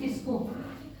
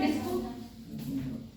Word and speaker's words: TISCO: में Tata iron steel company limited, जिसको bracket में लिखना है शॉर्ट फॉर्म में टिस्को, ऐसा नहीं लग रहा है डिस्को, डिस्को डिस्को ब्रैकेट में लिख लेना टिस्को, इस्पात टिस्को, टिस्को जो